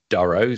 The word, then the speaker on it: Durow: foreign commonly pronounced as Duro so actually uh the app pronunciation of names